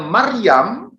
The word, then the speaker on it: Maryam: Saudara-saudari, nama Maria itu ejaan Latin, sedangkan ejaan Ibraninya itu berbunyi Miriam. Ini Miriam, bunyi asli dalam Ibrani. Miriam, bunyi Aramnya Maryam.